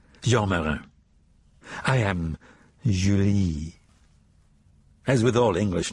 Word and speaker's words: Julie: He said, "Joyer, I am Julie." As with all English names taken into French, it sounded exotic, the J soft, the accent rolling to the second syllable.